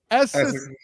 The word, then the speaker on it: Essex: How do you say your name with a possessive? Essex. Just Essex. Just say Essex. I don't even try to put the S on it. Question. I just leave it as it is.